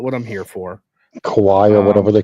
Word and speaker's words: kawaii: I'm from Hawaii. So it's kawaii.